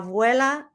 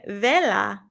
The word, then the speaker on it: vela: and with a wisp of air whoosh la vuela is blown out la vela i mispronounced it la vela is blown out vela means candle try saying vela that means candle now you're bilingual too now